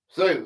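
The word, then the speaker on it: Sioux: It's pronounced sue.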